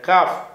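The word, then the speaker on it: قاف: அடுத்ததாக வந்து இந்த காஃப், காஃபுங்கிற எழுத்து அது கான்னு சொல்லணும், கான்னு சொல்லணும், இது கான்னு சொல்லணும். இது தமிழில் உள்ள காணா, அவ்வளோதான். கே கேஃபுன்னுலாம் சொல்லுவாங்க சில பேர், கேங்கிற உச்சரிப்பே கிடையாது அரபியில். என்ன இது இவங்க சொல்லிட்டோம், கேனா மேனாவே கிடையாது.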